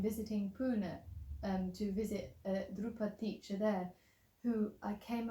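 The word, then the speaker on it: Dhrupad: But yeah, so I was interested about the musical is it practice of Drupad? Am I saying it right? So that's Drupad.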